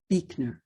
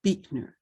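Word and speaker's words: Buechner: ordained presbyterian minister frederick beekner who passed away at the age of 96 i believe it is pronounced beekner even though it is spelled b-u-e-c-h-n-e-r i did look it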